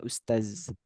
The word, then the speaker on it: ustadz: Ustadz itu kalau di Malaysia itu bacanya ustaz. Nah, ustadz itu kalau di Arab itu ada sebutan untuk seorang profesor, ustadz.